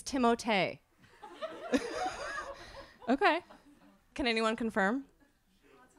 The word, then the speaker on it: Timothée: Someone corrected me because I was saying Timothée Chalamet. And and Caitlin Kunkel, you can call her and ask her. She was like, it's Timothée.